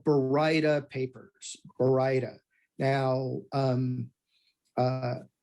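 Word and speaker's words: baryta: to talk about is uh what we call Bar papers Bara now um uh Bara is one of the most mispronounced words we have in our vocabulary that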